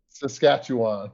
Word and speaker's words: Saskatchewan: Saskatchewan. Saskatchewan.